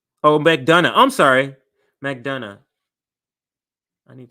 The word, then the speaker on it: McDonough: see how you say pronounce it here um pronounce Mac do oh McDonough I'm sorry McDonough I need to change the